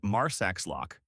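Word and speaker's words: Marsaxlokk: Drive further and you hit Mars lock. Yes, it looks unpronouncable. Say Marslock. It's a fishing village painted with candy colored boats.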